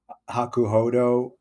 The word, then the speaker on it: Hakuhodo: Giants D suit um hakuhodo is that am I pronouncing that right no 100% is perfect okay um what what